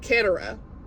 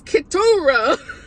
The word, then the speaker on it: Keturah: Berggren, and I've been saying Keturah. I just said it again. It's Keturah.